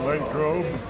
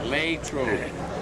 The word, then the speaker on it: Latrobe: Set up pins in Latrobe. Hey, you say it right. Latrobe.